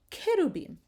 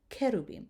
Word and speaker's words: cherubim: So you have these two words, osana, osana, or cherubim, okay? You have the hard k sound for the C. The H is silent, osana, cherubim.